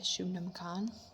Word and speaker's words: Shubnum: um the Gin weights 100 years uh by Shaman that's how you say her name uh I